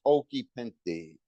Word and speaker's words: Occhipinti: it's actually Occhipinti, Okay, but Pinti. in America they say Occhipinti.